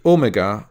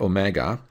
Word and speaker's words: omega: And finally, omega or omega is the second of the two Greek letters O.